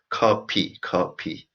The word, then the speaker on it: 커피: So 제가, and coffee, as I said, we don't have F sound. So in Korean language, we pronounce as coffee.